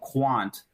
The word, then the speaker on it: Qwant: I don't know if you can get it on your computer, but it's called Quant. And that's QWANT is how it's spelled.